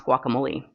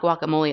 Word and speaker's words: guacamole: And then we also were talking about how you pronounce guacamole. She's saying it's not guacamole, it's guacamole.